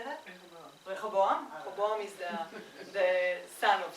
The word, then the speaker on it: Rehoboam: Rehoboam.